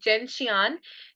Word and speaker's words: Gentian: 12th medicine is Gentian. People call it Gentian also, but I pronounce it Gentian.